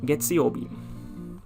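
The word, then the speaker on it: 月曜日: of nichiobi you could get the kanji for getziobi getziobi and it means monday of course monday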